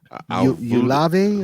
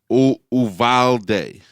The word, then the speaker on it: Uvalde: Ulave or something? Or is that the county? No, that's the city. Uvalde. Uvalde. Okay. Uvalde.